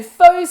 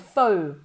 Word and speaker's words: faux: Faux, como si fuera F-O-U.